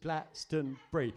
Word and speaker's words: Glastonbury: out loud it's Glastonbury it's three syllables Glastonbury it's not that hard anyway he left almost straight away he like he's just so disgusted by your inability to say the name Glastonbury probably he left anyway